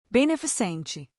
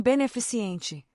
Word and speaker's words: beneficente: A forma correta é beneficente e não beneficiente.